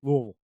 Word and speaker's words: Louisville: through the Louisville Louisville or the big just combo syllable Louisville Louisville yeah you kind of pour it out of your mouth you just kind of dump the whole thing just Louisville um the uh yeah